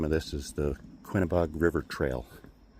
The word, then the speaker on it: Quinebaug: So, I think the official name of this is the Quinebaug River Trail. Maybe they're not supposed to pronounce the G in that, so maybe it's Quinabaug.